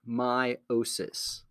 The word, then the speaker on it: meiosis: cells is called meiosis it's spelled weird but we say it meiosis so this process that